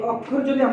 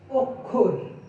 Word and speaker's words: অক্ষর: এই অক্ষর যদি বানানের মতো যদি উচ্চারণ করে থাকি তাহলে সেটা ভুল হবে। এটার প্রমিত উচ্চারণ হলো অক্ষর। এই অক্ষর না হয়ে শুদ্ধ উচ্চারণ হবে অক্ষর।